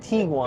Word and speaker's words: Tiguan: is the new VW Tiguan. Oh, yeah. How come you're saying Tiguan? It's That's Tiguan. how the Germans say it. All of the product people said Tiguan. It's tiger and iguana.